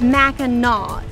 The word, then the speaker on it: Mackinac: But first things first, so you don't sound like you're from out of town, it's Mackinac, even though it's spelled like Mackinac.